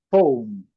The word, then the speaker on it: phone: Phone. E destacando esse O com um pouquinho de U aqui, a letra E não pronunciada.